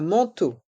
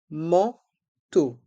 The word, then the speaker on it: manteau: Dans le mot manteau, les lettres A et N font le son en, man, et les voyelles E, A, U font le son O, comme la lettre O, manteau.